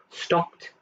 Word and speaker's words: stopped: syllable watched one syllable stopped also one syllable kicked one syllable again